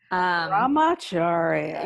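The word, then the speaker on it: Brahmacharya: but I'm Acharya am I saying it right Ramachari yes right people are literally like oh I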